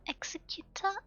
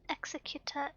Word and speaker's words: executor: Corporation he what's this the difference between executor and executor is easiest distinguished by pronunciation beheading professional it emphasizes the X and in the executive role it emphasizes the second e my brain